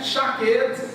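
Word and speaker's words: שקד: A palavra de cima é chaquete, que é uma vara de amendoeira, ok? A palavra de baixo é choquete. Se escreve igual, lê diferente.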